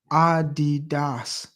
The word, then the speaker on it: Adidas: You know, the original pronunciation goes by the founder Adolf Adi Dassla in Germany. Adidas.